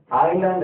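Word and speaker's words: island: அடுத்து ஐலாண்ட் அப்படிங்கும் போது என்ன, ஐலாண்ட் அப்படின்னா நான் முதல்ல சொன்னேன், ஐலாண்டுனா தீவு அப்படின்னு அர்த்தம். இந்த எஸ் இங்க உச்சரிக்கூடாது, எஸ் ஐலாண்டு.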